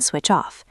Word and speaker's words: switch off: I leave my work phone in the kitchen so I can switch off. It is a conscious decision to disconnect. Let's practice. Switch off. The ch links to off.